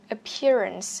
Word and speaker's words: appearance: Appearance nghĩa là diện mạo. Appearance. CE các bạn phát âm là chữ S cho mình khi nó ở cuối từ nhé.